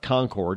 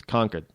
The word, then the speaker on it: Concord: things properly um like conord is not Concord it's conquered go anywhere in conquered